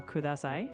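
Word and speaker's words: ください: In Japanese, the D sound is always a clean D, like in dog. There's no TH sound like in this. So kudasai, with a D sound, is the way to go.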